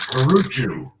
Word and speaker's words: Carrucciu: The Italian pronunciation is Carrucciu, but people would say "God bless you" when I say it that way.